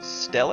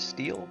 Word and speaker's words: stela: A sepulchral stele? Is that how you say it? Steel, maybe? Granite steel? Stella, I think. Stella. A sepulchral stela.